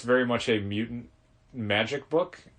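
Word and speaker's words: Magik: It's very much a mutant magic book. Not the mutant magic, but magic and mutants. That's always difficult to explain because of a character called Magic. Yes. With a silent K.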